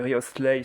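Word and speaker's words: Wriothesley: autour de Riolet oui je dis Riolet mais c'est riosleay si vous préférez vraiment le prononcer correctement euh donc j'ai déjà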